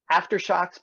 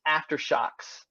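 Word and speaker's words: Aftershokz: and then this again it's aftershocks it's aftershocks it's spelled Elizabeth a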